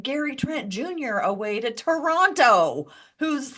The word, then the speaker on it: Toronto: second T in ter Toronto like it was like an insult um also just cuz like if you're from Toronto like they don't pronounce that second T it's just like I'm sure Toronto is great Toronto it's